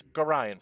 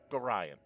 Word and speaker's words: Gorion: to be the one to deliver, and it's Gorion, folks. Gorion. I've heard so many people mispronounce that name. It's Gorion.